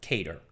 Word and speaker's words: CADR: # CADR Nel 1977, Greenblatt e il suo team crearono un secondo computer, chiamato CADR (che si pronuncia "cater").